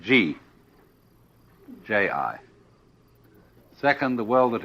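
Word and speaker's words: 事: easier to remember than Chinese and easier to pronounce. First of all, the world that is called Ji, J-I.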